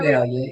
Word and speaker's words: Vidalia: Did I say that? Vidalia. You said it right.